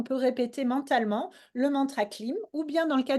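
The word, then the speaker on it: klim: manthra comme par exemple le manthra clim ça s'écrit K L ilon m et le manthra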